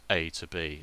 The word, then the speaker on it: A=B: Welcome to A equals B, pronounced as A to B.